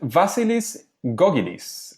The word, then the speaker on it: Vasilis Gkogkidis: engaging learning materials and today we are with vasilis gogis and this time I think I did say